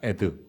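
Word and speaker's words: עד: 글자와 달라고 하는 글자요이 아인과 렛을 합치면 에라고 읽습니다 한번 해보겠습니다 에드 에드 그래서 우리가이 신명기 6장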